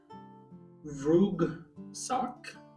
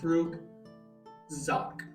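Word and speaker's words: Vugzakh: the next one is vug sck or vug Zach sorry I had to say the Z vug Zach V VR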